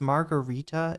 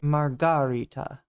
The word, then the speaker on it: Margarita: So she was given an opportunity to Margarita is this emphasis on the second syllable question.